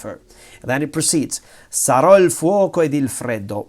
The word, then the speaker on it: sarò: I will be, sarò once again, ciò, what respiri. You breathe. I will be what you breathe. Capirò che cosa hai dentro. All these future tenses with the accent on the last syllable.